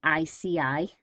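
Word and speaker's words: Iceni: original british tribes which was the ici that's how you how you say it the ici tribe under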